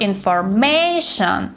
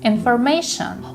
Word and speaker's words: information: is stressed information the stresses on the third syllable it's not information it's information why do we put the stress on the